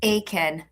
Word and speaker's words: Aitkin: It's, Aiken. are you sure? Should I play Yeah, it I again? don't think you pronounce the T.